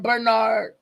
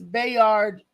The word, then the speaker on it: Bayard: I was calling him Bernard or Byron, but it's Bayard Rustin.